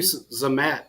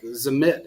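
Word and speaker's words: Zammit: yeah uh this guy Luis ree zamat is zamit is how you pronounce his name everybody's flipping out about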